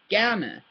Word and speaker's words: gerne: Gerne. Yeah, it looks like gern, but it's pronounced gerne or gern.